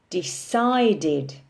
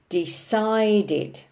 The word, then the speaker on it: decided: But when we turn it into the past simple, decided, we have an additional syllable on the end and the stress is on the second syllable. Decided, decided.